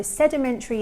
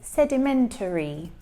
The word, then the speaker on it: sedimentary: So sedimentary is a type of rock, and he says sedimentary. But again, this is not how natives speak. We will shorten that last sound to say sedimentary.